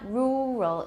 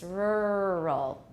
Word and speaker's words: rural: But we have R coloring in this syllable, and the R is also the initial of the second syllable. So it's not rural, it's rural. Rural.